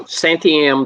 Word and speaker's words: Santiam: santiam which is so santiam the way to pronounce it when you read in this heart it's like anti-m except anti-am um those are both